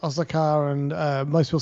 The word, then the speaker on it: Osaka: Yeah, but a lot of the Japanese people that reside in Japan have been saying it with the emphasis on the last A, which is kind of interesting.